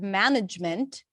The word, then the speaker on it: management: are absolutely silent okay like in the word management there is an e there that doesn't have any syllable it's not it doesn't represent any vowel so it's not ma management okay so here we